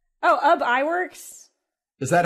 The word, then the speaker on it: Iwerks: Oh, Iwerks.